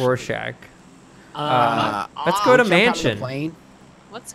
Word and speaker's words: Rorschach: Oh, is I did want to mention a Russian fan of the show confirmed that Griffin's pronunciation of Roshak was accurate. It's such a joke. Rorschach, actually. Rorschach.